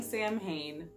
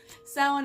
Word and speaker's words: Samhain: talk about salen and if you've been saying Samhain that is incorrect I'm sorry I love